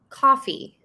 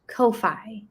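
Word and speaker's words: Ko-fi: okay all right oh and also it is coffee not kofi i thought it was kofi i i did too it is actually coffee it rhymes with no fee ah oh the creators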